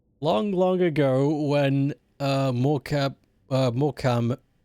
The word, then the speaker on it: Morecambe: Long, long ago when uh Moram, still don't understand how it's spelled Morcam, there's a B in there, was only a young town.